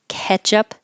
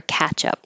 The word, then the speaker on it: ketchup: it the same way, ketchup or catchup. And these were both in the dictionary, so you can choose whichever one. This vowel is like head, ketchup, and this vowel is